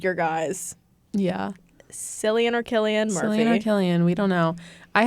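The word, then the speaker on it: Cillian: Why did someone say Silian? It's pronounced Killian. Yep. Yes, it is to be pronounced Killian.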